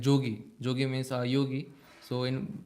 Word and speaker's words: jogi: Yashoda told him like Jogi. Jogi means yogi. So in Vrindavan, in Bengali also, Brajvasa in Bengali, when we say Y, it is pronounced as J. So they say Jogi.